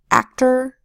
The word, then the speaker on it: actor: T says T, and the OR says not or, because it's the second syllable and the O is an unstressed vowel sound. That's being controlled by the R.